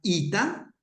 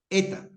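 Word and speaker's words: ἦτα: y sino la vocal algunas escuelas la escuela riana le llama a esta la Ita correcto o la escuela erasmiana le llama la eta Ita o Ita siempre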